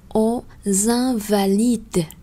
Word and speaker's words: Invalides: ta sẽ nghe là aux invalides. Invalides. Thì chữ X mà đọc nối qua cũng sẽ đọc là Z.